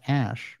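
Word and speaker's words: Æ: Musk then they're like AE is pronounced Ash musk told controversial podcast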